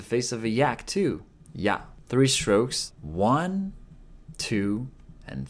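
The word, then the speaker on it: や: Momo Momo means Peach is pronounced like yeah in yat in British English it sounds like yeah in Yak see how this kind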